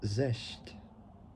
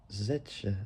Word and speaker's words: Zetsche: Bernard, and CEO Dieter Zest Dieter Zetsche. I can't pronounce it. It's like saying the word Porsche, but taking out the letters POR and replacing it with ZET, spelled ZETSCHE, who gave their immediate approval.